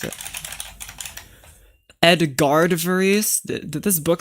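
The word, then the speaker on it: Edgard Varèse: Edgar Varice. That's how you pronounce it. Edgard Varice.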